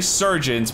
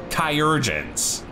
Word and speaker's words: chirurgeons: I always want to say surgeons, but I believe the correct pronunciation, if I'm remembering from Heavensward, is chirurgeons. So, if I end up saying churgeons a couple times, I apologize.